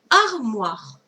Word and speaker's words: armoire: Armoire. J'écris d'abord la syllabe ar. R. Le M. Oua. O-I. Re. R. E. A-R-M-O-I-R-E.